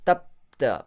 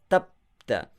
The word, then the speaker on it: Tapta: Tapta. Pause after ta. Tapta.